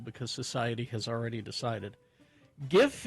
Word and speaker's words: GIF: GIF is pronounced with a hard G.